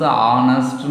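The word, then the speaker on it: honest: இப்போ ஹானஸ்ட்டு, ஹானஸ்ட் ஹச், ஆனால் அது ப்ரொனவுன்ஸ் ஆனஸ்ட்னு வரும்.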